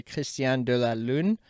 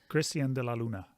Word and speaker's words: Cristian de la Luna: I want to say Cristian de la Lune. Cristian de la Luna. De la Luna. Yep. It's not French. It's Colombian.